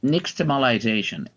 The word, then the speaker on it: nixtamalization: Okay, it's nixtamalization.